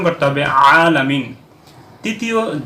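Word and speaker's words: العالمين: ভুল তাহলে এখানে অবশ্যই আইনটাকে সঠিক ভাবে উচ্চারণ করতে হবে হামজা হচ্ছে উচ্চারণ করা যাবে না আলামিন উচ্চারণ করা যাবে না এখন উচ্চারণ করতে হবে আলামিন তৃতীয় যে জায়গার মধ্যে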